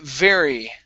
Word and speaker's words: very: next up is uh very right here instead of betty or berry it's very give me a good v very very good and